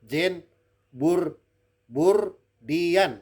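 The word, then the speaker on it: Jean Baudrillard: pemikir jangur Dian anda jangan salah baca itu Jin burbur diam bacanya ojo kleru loh gembur Dian itu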